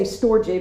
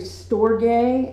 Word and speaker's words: storge: I had to look up the pronunciation of this because I would say storge, but it's actually storge, and S-T-O-R-G-E.